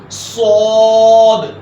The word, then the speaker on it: صاد: آتا ہے وہ ہے صاد۔ اب صاد جو ورڈ ہے اس کو موٹا کر کے پڑھیں گے۔ اب یہ تلفظ ہے،